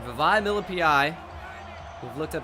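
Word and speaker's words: Vavae Malepeai: All right, Vavai Milipai. We've looked up how to actually say his name, as you guys know. Vavai Milipai.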